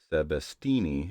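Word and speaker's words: Sebastiani: filled me in that I'd been mispronouncing Drew's last name every single time. Though I had it broken out phonetically for me, so I trust that Sebastini is right.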